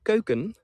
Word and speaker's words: keuken: And the Dutch word keuken, that, or the word keuken, I'm pronouncing it on the Dutch way also, that means kitchen.